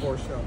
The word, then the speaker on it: Porsche: But that's how it's pronounced, Porsche.